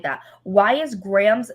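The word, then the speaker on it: Graeme: shipped by angie hoffman why is his name spelled like that why is graham's name spelt like that i don't understand it's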